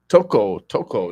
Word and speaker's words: Thoko: Toko. Now, how you spell that?